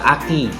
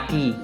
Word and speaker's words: ACCU: Akumulator ya, akumulator itu disebut aki. ACCU itu sebenarnya di bahasa Indonesia bacanya aki. Ya, aki.